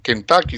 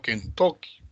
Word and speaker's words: Kentucky: Pero en Estados Unidos no se pronuncia, pues, Kentucky, sino Kentucky.